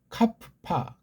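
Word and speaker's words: κάππα: 여기서 이제 우리요 이름을 카파 여기 피읍이 예, 두 개. 그렇죠? 갑 카 파. 그렇죠? 카프파. 카파 카 파. 요런 발음들을 우리가 잘 하는게 중요.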